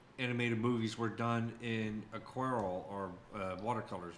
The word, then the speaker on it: aquarelle: By the way, I pronounced that right? Aquarelle?